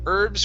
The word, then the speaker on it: herbs: as well as for herbs for cooking for cooking for cooking all right make sure to pronounce the bs herbs herbs for cooking earth